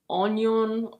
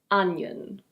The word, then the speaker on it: onion: Now we have: onion. It's not "ohn-yohn" or "ohn-ee-ohn". It's: onion. Onion.